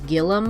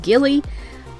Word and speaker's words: Gilly: often got called gillum or that is not how you say my name my name is pronounced gilly like a ghillie suit what is the most